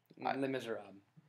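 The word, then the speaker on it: Les Misérables: Did you pronounce the S? Because you didn't. Les Miserables, I believe, is how it's supposed I was making to be pronounced.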